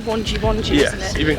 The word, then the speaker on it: Wangi: We actually need to call no, it's actually called Wonji, yes, isn't it? You've been calling we keep it Wangi.